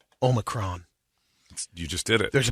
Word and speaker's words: omicron: okay omicron is okay the oxford dictionary that includes omicron oh my crown classical greek pronounced to the second syllable sounding like me or micron i'm not greek although